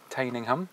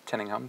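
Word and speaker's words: Tyninghame: are just arrived at tinham or tinham depends what way you want to pronounce it uh the plan is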